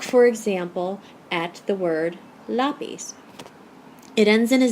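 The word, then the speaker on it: lápiz: it would be pronounced lapis with the accent on the last syllable but that's not how we say l-a-p-i-z we say loppies with the accent on the a and that's why we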